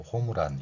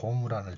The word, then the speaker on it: 홈런: 그런데 받침을 사용하지 않고 받침 표기가 없는 일본어의 원리를 적용해서 으 발음을 넣어서 호무란 이러죠. 호무란.